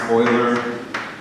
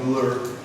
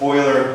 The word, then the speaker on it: Euler: It's pronounced Euler. A lot of students read that as Euler. It's Euler because it's Swiss.